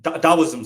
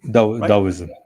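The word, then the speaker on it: Taoism: deism that's a nice religion you know um Dowism sorry Daisoism is it Dowism am I pronouncing it correctly Dowism yes dowism I would love I would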